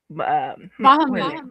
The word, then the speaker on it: Bahamut: Sky said, Bahamut. That's how you pronounce it. Okay, Bahamut is how.